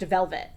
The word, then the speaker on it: Velvette: tte at the end but it's still pronounced velvet okay so um yeah